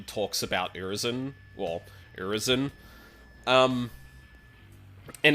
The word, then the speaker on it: Urizen: you're looking for which the way that V pronounce it is urisen so you got like